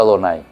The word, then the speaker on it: Adonay: cuando llegan a eso hasta ahora no está escrito ado nay está escrito ya ve pero ellos leen adonay y eso ya automático ahora porque al dios el